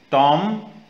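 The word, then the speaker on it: tomb: टॉम, B silent.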